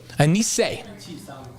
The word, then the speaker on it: Anisse: Anisse. Okay, so Anisse, there's a T in it, but the T is silent.